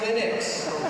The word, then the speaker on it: Linux: questions from the easy category how do you pronounce linux well i pronounce linux as linux however however the total answer to that is